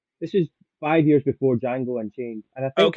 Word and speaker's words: Django: his great cameo in Jango and chain when Jamie Fox spells name and he's like the D is silent Frank oo was just